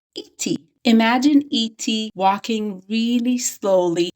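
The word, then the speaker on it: איטי: It is not E.T. where the syllable stressing is at the beginning. It's E.T. The syllable stressing is at the end.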